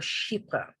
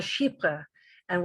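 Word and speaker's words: chypre: or be familiar with is a category called sheepa and take a look at the way it's spelt it's spelled c-h-y-p-r-e-s which is based on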